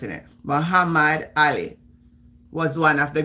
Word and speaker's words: Muhammad: yes I am blessed Mohamed H Muhammad I pronounce it Muhammad Ali was one of the greatest box of